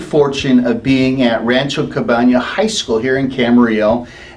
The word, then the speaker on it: Campana: So as the leader, I'm gonna correct you in the way you pronounce the word. I know, I understand. Say the word Campana. It's Rancho Campana.